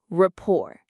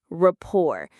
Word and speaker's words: rapport: R-A-P-P-O-R-T. The T at the end is silent. We don't say it. It sounds like this, rapport. The stress is on the second syllable, rapport.